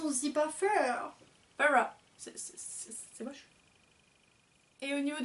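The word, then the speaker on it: Feyre: Donc en français, tout le monde aurait tendance à dire faire, faire, un truc comme ça. Et en fait ça se dit Farah.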